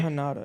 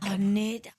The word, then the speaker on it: Haneda: You Or say Hanada. Canada, Haneda. Canada airport. Haneda.